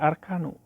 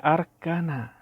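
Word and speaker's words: أركان: Nah, di sini perhatikan dibacanya arkanu, seharusnya arkan. Kenapa? Wawunya huruf atap, otomatis al-arkan diatapkan kepada kalimat sebelumnya, yaitu al-ususa. Ususa mansub. Berarti wawu ini huruf atap, maka harus dibacanya arkana.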